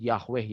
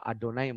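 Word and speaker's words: יהוה: ya Atau biasa disebut Yahweh Yahweh gitu ya orang Ibrani orang-orang Israel tidak menyebut yahwe ataupun Jehova tapi dibacanya adalah adonai maupun Has Changed for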